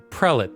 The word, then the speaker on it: prelate: the prelate the prelate i don't even know if i'm pronouncing that correct prelit thank you the prelate is basically